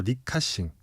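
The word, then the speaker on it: 李嘉誠: 사실 이 사안을 잘 이해하려면 CK 허치슨이라고 하는 그룹 그 중에서도 리카싱 우리나라 발음으로 치면 리자청이라고 하는 인물인데 네.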